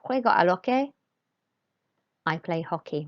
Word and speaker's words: hockey: are okay I play hockey remember not to pronounce the H in Spanish and make sure after